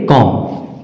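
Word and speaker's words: comb: एम के बाद आया उसी तरह से सीओम बी एम के बाद बी आया तो बी भी इसमें साइलेंट है तो इसे हम क्या पढ़ेंगे कॉम कॉम आगे है टी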